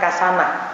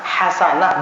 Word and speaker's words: hasanah: Loh, kok kamu bacanya kasanah, hasanah bukan kasanah?